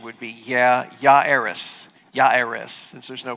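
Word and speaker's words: Jairus: It looks like Jerus actually um pronunciation would be ya yeris. Yeris since there's no pronunc pronunciation of J there. We're going to just say Jarus for um for convenience sake anyway because that's what it looks like.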